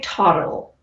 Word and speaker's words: Todyl: I would say Toddle. Toddle? Yeah. So it's TODYL for folks listening or watching, but we'll go with Toddle, because I can't.